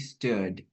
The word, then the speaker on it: stood: stood there Oke sorry aku ralat ya ini bukan u yang panjang tapi stood.